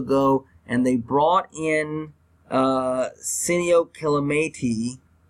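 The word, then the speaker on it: Senio Kelemete: They let Xavier Su'a-Filo go, and they brought in Sinio Kelemete. I probably butchered that name. But they did bring in, it's Sinio Kelemete. Kelemete.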